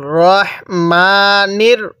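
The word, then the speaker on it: الرحمن: আমার সাথে পড়ার চেষ্টা করবেন তাহলে পড়ুন আর রাহমানির হ্যাঁ অনেকেই রাহমান পড়ি ঠিক আছে রাহমান পড়ি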